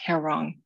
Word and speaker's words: Haerang: hair on me and how you pronounce it is like something you would say on a bad hair day when your hair does not look right instead it looks wrong hair wrong it's korean for together